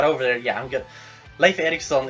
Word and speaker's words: Leif Erikson: Leif Erikson is actually how it's pronounced.